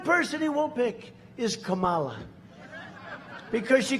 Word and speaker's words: Kamala: tried to interrupt him know my name was kamala like comma i remember that like